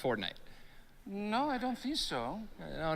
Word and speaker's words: Fortnite: bucks for this okay that's a that's a fork knife reference uh did you say fork knife it's uh it's actually pronounced fortnite no I just saw no no but believe